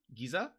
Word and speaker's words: geyser: I wonder how you pronounce geyser. Giza. It's g e zer.